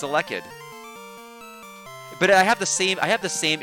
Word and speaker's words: Elekid: I keep thinking it's supposed to be Elekid, and it's not. It's Elekid.